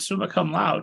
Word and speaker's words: summa cum laude: So originally you're at Bucknell University, you get an honors in English and creative writing, you graduate summa cum laude, right?